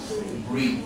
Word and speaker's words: breathe: So we change the pronunciation from breath to breathe.